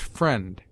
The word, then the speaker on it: friend: as the double e except friend which is sounded as f r n d i is joined with